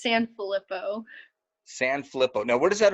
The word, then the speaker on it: Sanfillippo: Can you Yeah, pronounce that all out for me so I don't mess it up? it's Sanfillippo.